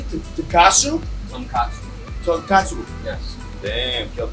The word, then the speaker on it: tonkotsu: We got our tonkotsu broth. Okay. It's going on a boil right now. How do you say tonkotsu?